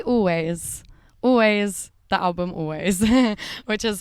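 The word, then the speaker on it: Alvvays: Yeah, and it's spelled ALVV. AYS. That's it. Instead of W.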